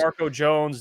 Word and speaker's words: Jamarco Jones: Is it Jamarco Jones or I hope I pronounce Jamarco Jones.